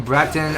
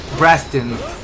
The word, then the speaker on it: Braton: Yeah, but I must have mispronounced his name. Bratton. I was saying Braxton with an X on it.